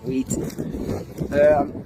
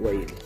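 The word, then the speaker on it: Weighton: Hello, we're in the small market town of Market Wheaton, or Wheaton, I think it's called pronounced Wheaton.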